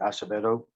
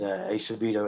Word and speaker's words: Acevedo: They can catch me on Instagram under the same name, Acevedo.